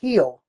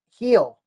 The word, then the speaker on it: Gil: It's actually pronounced Heel. Luis Hill. Heel.